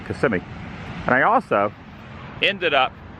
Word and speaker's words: Kissimmee: orlando it's technically kissimmee some pronounce it kissamy but i call it kissimmee and i also ended